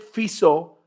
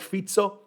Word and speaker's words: Fico: And on the same day or the next day, Robert Fico, I think Fico is how you say it, Robert Fico, not Fico. I thought it's Fico. It's not Fico. He's not Portuguese, right?